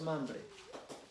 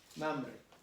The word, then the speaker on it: Mamre: ¿Es Mamre o es Mambre? No tiene acento, ¿cómo es? Mamre. ¿Mamre? ¿Con acento en la A?